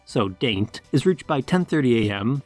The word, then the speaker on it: Daint: The schedule usually runs something like Daint, pronounced not like the Italian, but instead similar to paint, so Daint, is reached by 10:30 a.m., St.